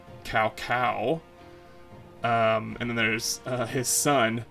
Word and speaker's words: Cao Cao: right here I think in Dynasty Warriors he pronounces his name Cao Cao and then there's his son is Cal P